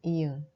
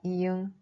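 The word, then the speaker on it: 이응: Mais si elle est utilisée comme consonne finale, la prononciation devient ung.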